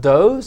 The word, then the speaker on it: does: Does, can also be pronounced does. It means female deer, so you have to get that out of context.